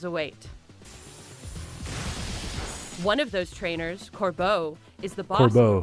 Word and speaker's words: Corbeau: One of those trainers, Corbeau, is the boss of the Rust okay. Sure. It's not like cordon bleu, but okay.